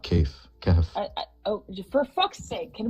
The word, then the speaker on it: Kahf: Yeah, Don't know it's how to pronounce Kahf, it. not Kaif. Kahf.